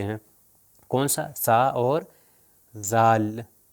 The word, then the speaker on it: ذ: سا، سا اور ذال۔ اب دیکھیے میں ذال کو زبر، زیر اور پیش سے تلفظ کروں گا، ذرا غور کریے گا، دیکھیے گا بالکل اسی جگہ پر میں اوپر اور نیچے والے دانتوں کے درمیان میں لے کر آ رہا ہوں، ذ، ذی اور ذو، ذ، ذی، ذو۔ آپ نے دیکھا اگر